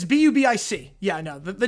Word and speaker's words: Bubic: It's B-U-B-I-C. Yeah, no. The name, it's pronounced Bubic, but the name is B-U-B-I-C.